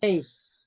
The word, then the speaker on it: lace: Lace.